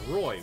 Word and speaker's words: Roy: Dope Shay says, say it as Roy, Woody. Oh, Roy. Okay, fine. The Israeli player is Roy.